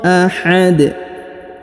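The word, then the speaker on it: أَحَد: kita di ujung ini, maka huruf dalnya kita sukunkan, dan karena dia berharokat sukun maka dibaca pantul ya, maka dibaca pantul atau qalqalah. Qul huwallahu ahad. Qul huwallahu ahad.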